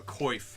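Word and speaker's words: coif: head armor called a koif I've heard some people call it a qua I'm not an expert at how to pronounce medieval words but I've always called it a koif it's C if F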